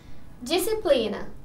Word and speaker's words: disciplina: o pronunciar o h disciplina pronuncia assim sem o s entre os e entre